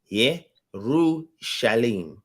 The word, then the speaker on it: Yerushalayim: And Yerushalayim, right? Yerushalayim. Yeru. Same thing with not Ru.